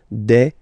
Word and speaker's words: des: at the end and as we said you don't pronounce it so you get de okay de so un